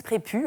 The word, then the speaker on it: Prépuce: récurrent qui s'appelle Alice Prépu. Hein, c'est un S aspiré, ça s'écrit prépuce, mais ça se dit prépu.